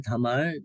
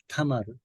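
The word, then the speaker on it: תמר: 한국말 다말, 영어 발음 타말, 히브리어 발음 타마르.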